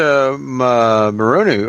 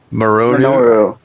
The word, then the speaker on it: Minoru: We got 2 points moving over there to Marunu, or I can't even say his name. Minoru.